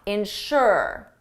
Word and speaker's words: ensure: Ensure the syllable is on the second sound ensure its louder ensure, but the second one is insure.